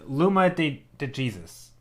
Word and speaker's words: Luma de Jesus: is very interesting uh the first pronunciation your name was correct oh Jesus okay so it's Luma de Jesus that was the first